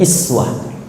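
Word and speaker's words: أسوة: Itu kalimat uswah, kata uswah, itu bisa dibaca dengan riwayat iswah.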